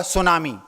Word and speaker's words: tsunami: जैसे आपने एक शब्द सुना होगा, सुनामी। उसकी स्पेलिंग है TSUNAMI। शुरुआत होती है टी से और उच्चारण होता है एस से।